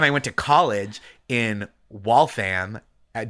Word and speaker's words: Waltham: But then I went to college in Waltham at W A L T H A M which is the only one that's pronounced am cuz then south of there is denim and like Hingham south south of there.